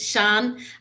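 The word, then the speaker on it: Sian: name's sean it's um it doesn't look like it should be pronounced shawn it's s-i-a-n but it's a welsh name so so that's why so it's sean and i'm from clamberton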